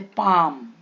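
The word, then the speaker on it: palm: कहां साइलेंट होता है अगर एम के पहले एल है जैसे पाम एल के एम के पहले है ना काम आम्स बाम ओके एफ के पहले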